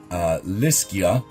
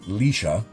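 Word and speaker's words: Liscia: Lischia, or I believe it's pronounced Lisha, means smooth.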